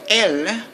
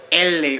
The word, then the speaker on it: elle: that ill but with l l is spelled e-l-l-e but it's pronounced just fine you have to ignore the final e okay it's not ele or Eli or something like that